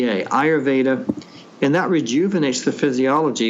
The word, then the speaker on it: ayurveda: do an ancient technique of medicine called ayurva that's spelled a yur v d ayurveda and that rejuvenates the physiology in many ways